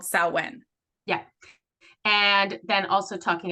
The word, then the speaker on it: Samhain: but in the witchy word we're it's called saen yeah and then also talking about some oh